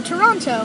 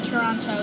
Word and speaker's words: Toronto: is no senator yeah there is no second T in Toronto well that's how the Canadians pronouncing the Canadians pronounced at Toronto but it's actually Toronto